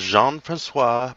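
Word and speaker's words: François: Not sure if I'm good at pronouncing this. Is that Francois? Yes, his name is Jean-Francois Pelletier de Rosière.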